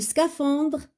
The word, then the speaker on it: scaphandre: L'homme, L-O, l'homme, donc le H, on ne le prononce pas. Bonnet, la lettre T. Rouge, la lettre E. Le scaphandre, la lettre E.